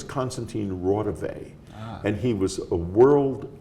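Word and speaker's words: Konstantin Raudive: who it was but they mispronounced his name his name was Constantine Rave and he was a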